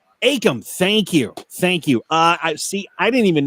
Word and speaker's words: Akam: And I hope I'm pronouncing his first name right. Akam or Cam? Akam.